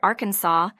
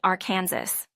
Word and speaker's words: Arkansas: A dispute arose between those favoring the French inspired Arkansas and others who pronounced it are our Kansas.